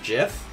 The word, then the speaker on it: GIF: if pronounced it's pronounced is it really pronounced jif i thought i always i always thought both were acceptable i thought gif and jiff were acceptable i don't know i